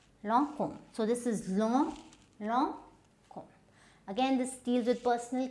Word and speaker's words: Lancôme: Okay, so the next we come to is, now you might be pronouncing it as Lancôme or as close as you can get. Now this is Lancôme. So this is Lancôme.